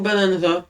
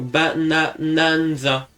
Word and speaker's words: Bananza: Donke Kong Bananza. Ben d'accord. Moi euh des fois je prononce Donke Kong bananaza comme banana split.